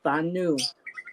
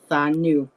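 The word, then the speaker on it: Danu: the uh Celtic language the Gaelic language is pronounced with a th so um you will see it her name also pronounced as thanu um and she is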